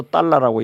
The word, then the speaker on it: 달러: 그러니깐 우리는 달러라고 해서 달러라고 읽죠. 네. 그 사람들은 진짜 딸라 읽어요.